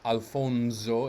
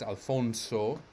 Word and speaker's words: Alfonso: s beside each other should make the s sound like z but no it is balasamo ancia his name is not alfonso it's alfonso and questo clear clear all